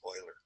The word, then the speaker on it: Euler: His name is pronounced Euler.